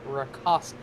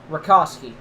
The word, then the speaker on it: Rakowski: I've been told by the comments, Luke's last name is pronounced Rakowski. Rakowski. Gotcha.